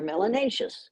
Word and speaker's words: melanaceous: If you have more melanin, you're melanaceous, which rhymes with spacious and gracious and efficacious.